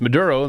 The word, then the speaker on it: Maduro: yapping before Maduro was even out of the Gulf. When you say it that way, Maduro, I don't understand. It needs to be pronounced Maduro. Maduro. Nicolás Maduro.